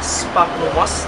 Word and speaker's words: Sphagnum moss: Jadi pengucapannya yang benar adalah Sphagnum moss, tulisannya seperti ini ya, Sphagnum moss, bukan Sphagnum moss atau Sphagnum moss atau Sphagnum moss ya, tetapi Sphagnum moss.